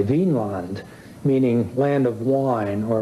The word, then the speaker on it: Vinland: Now, this has been a controversy in scholarship ever since because people want to, in modern days, see it as V-I-N with an accent on the I, Vinland, meaning land of wine or land of grapevines.